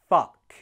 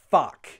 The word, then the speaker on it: fuck: Fuck has the exact same pronunciation as in up.